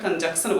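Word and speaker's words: conjunction: ठीक है, हम लोग शॉर्ट में कंजंक्शन बोल देते हैं, लेकिन एन नहीं साइलेंट होता है, एन बोलना चाहिए।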